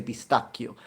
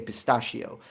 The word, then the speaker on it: pistacchio: That's great, yeah, because we say pistacchio, we don't say pistachio. Just like we say bruschetta, not bruschetta or bruschiera. It's bruschetta, pistacchio.